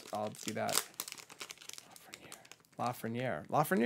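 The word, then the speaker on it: Lafrenière: If I hit a Lafreniere, I'll do that. Lafreniere. I'm saying it right. Lafreniere. Right? Yeah, you're doing great.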